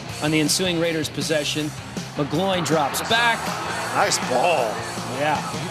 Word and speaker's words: McGloin: You mean McGlovin? McGloin. Willie's going to have me saying his name wrong.